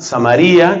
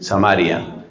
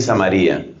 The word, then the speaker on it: Samaría: en la mitad estaba samaría que otros pronuncian samaria vamos a decir aquí samaría y al norte estaba